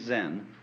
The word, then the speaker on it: Zen: is Japanese pronunciation like Zen is the Japanese pronunciation of the Chinese Chan and uh the story